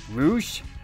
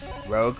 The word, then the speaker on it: Rogue: Rouge. Rogue, whatever. Apocalypse. Anti-Venom. Shocker. Songbird. Red Hulk, or Rolk, as some people might pronounce it.